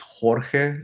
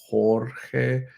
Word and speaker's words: Jorge: Where in Spanish, in Spanish it's Jorge, right? Jorge. In English it's George. Right?